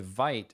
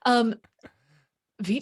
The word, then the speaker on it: Vite: And also I have learned it's Oh, pronounced Vite. Vite.